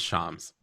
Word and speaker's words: Shams: um um but also my name is pronounced Shams Shams I'm sorry I apologize